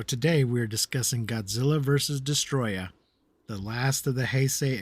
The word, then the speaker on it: Destoroyah: have to say, like, is it Destoroyah? Because in the movie it's subtitled Yes. as Destroyer, and they just pronounce it in Japanese as Destoroyah. So is it? The English posters and videos and everything say Destoroyah. Y-A-H. Destoroyah. Not Destroyer.